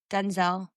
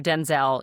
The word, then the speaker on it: Denzel: Denzel.